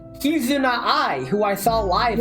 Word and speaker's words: Kizuna: and hate how you pronounced her name cuz I you said Kazuna and that I just imagine a Kazoo VTuber and then you said not and I'm like oh Kizuna I who I saw live at offkai.